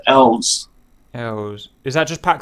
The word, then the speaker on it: ELS: you refer to as ele s as actually pronounced elves arrows is that just pack three that's correct